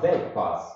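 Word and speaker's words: Dyck: but as told me it's actually right to pronounce d pass because D was a Dutch man and I not everyone knows but it's actually spelled with why so they pass but to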